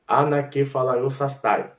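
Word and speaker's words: ἀνακεφαλαιώσασθαι: A palavra de tornar a congregar é uma palavra extensa no grego, que é anakephalaiosastai, ou anakephalaiosastai, que alguns pronunciam feta como teta. Aí fica sastai, no lugar de sasfai.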